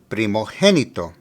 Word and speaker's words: primogénito: In Spanish, when the letter G is followed by an E or an I, it has an H sound. So here, the correct pronunciation is primogénito.